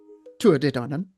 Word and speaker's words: Tuatha Dé Danann: uh tu danan pronounced tu danan uh is translated as tribe of danu.